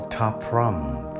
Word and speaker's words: Ta Prohm: This temple we call Ta Prohm. This spelled with T-A-P-R-O-H-M.